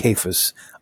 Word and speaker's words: Cephas: And then he tells us what Cephas means, or Cephas means, however you want to say it. This should probably be a hard sound. So this would be Cephas, which is, of course, just what happens if